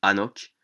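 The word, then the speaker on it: חנוך: de cette fable premièrement le nom d'Enoc ou anoc comme le prononcent les Hébreux deuxièmement son âge le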